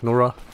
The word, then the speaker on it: Nora: Nora? Yep, that's how you pronounce it.